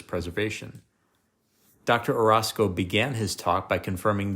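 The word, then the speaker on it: Orozco: Aldalfo Arasco, that's spelled O R O Zco, told participants at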